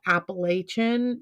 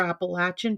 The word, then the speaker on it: Appalachian: live in North Carolina before I moved here I called it Appalachian because I am from the west coast and um since I've moved here and I've heard the way that people in North Carolina and Tennessee and West Virginia and Virginia refer to it as Appalachia or appalachin Trail so I call it appal appalachin Trail it it's so what